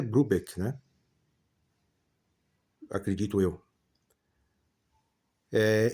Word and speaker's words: Brubeck: Tem gente que que fala David Brubeck, né? Mas eu eu acredito eu que a pronúncia certa é Brubek, né?